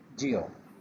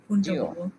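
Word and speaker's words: yo: বলেছেন সেকেন্ড যেটা বলেছেন এটার উচ্চারণ হচ্ছে জিও যয় দানিলা সয় জি সয় দানিলা এটা এটা কি ই না জ জিও জিও জি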